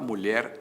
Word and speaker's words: mulher: a palavra açúcar açúcar açúcar é paroxítona mulher é oxítona certo mulher termina em